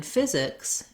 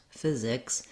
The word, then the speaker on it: physics: like we discussed before, the PHY is like a letter F and an I sound for typical spelling. So you might think about a word like fizz.